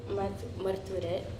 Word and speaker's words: Marturet: And then today we have here with us Maestro Eduardo Marturet.